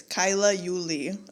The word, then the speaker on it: Kaila Uli: It's Kyla Uli.